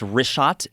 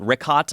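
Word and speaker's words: Richat: Yeah, in the first couple, I just want to say it's wrist shot. I used to call it Rickot. I was mispronouncing it.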